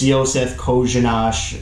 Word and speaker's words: Josef Kořenář: It's Josef Kořenář. I know, very hard to pronounce after you see the name, but that's how it's supposedly pronounced.